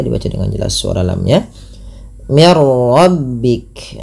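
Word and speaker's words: مِنْ رَبِّكَ: Ah, ini ada nun sukun bertemu dengan ro. Yaitu cara membacanya masukkan bunyi nunnya. Tadi tidak dibaca lagi min rabbik tapi dibaca dengan mirbik dengan memasukkan bunyi nun kepada huruf ro dan kita kenal dengan istilah idgham bila ghunah.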